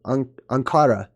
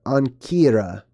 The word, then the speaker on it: Ankara: city of Ankara uh Ankara or ankira it's pronounced different ways which today is the